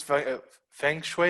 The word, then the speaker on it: Feng Shui: I would literally put on the page, I use Feng Shui. Is that how you pronounce it? Feng Shui. Yep, Feng Shui.